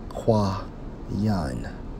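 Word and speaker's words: קין: Now, for the term Cain in the Hebrew, Strong's H7014, pronounced as Qua-Yan, right?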